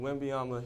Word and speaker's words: Wembanyama: Wembanyama.